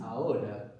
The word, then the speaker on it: ahora: Now is ahora, the word for now. That's A-H-O-R-A. The H is silent.